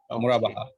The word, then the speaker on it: Murabaha: I am pronouncing Murabaha rightly, or I am pronouncing Mudaraba? No, sir, it's okay. Murabaha.